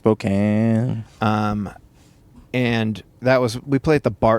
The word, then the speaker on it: Spokane: but actually pronounced Spokane.